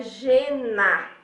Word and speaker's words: žena: Por exemplo, quando se diz žena, que é mulher em tcheco, a gente pode pensar que seria como GE em português. Então seria žena, G-E-N-A, žena. Então ele tem sempre o som do J.